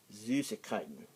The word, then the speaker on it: Süßigkeiten: And then in the umlaut U is not the easiest thing to pronounce. It's like more of a U sound, but the way to pronounce it is that you say E. Act like you're saying E, then pucker your lips.